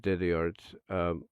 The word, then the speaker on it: DezzieArts: As a matter of fact, yeah, it's basically what it is, Desi Arts, right there. If I can just take that out, there we go. Yeah, there we go, Desi Arts.